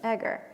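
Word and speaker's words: Eger: Egger. Egger.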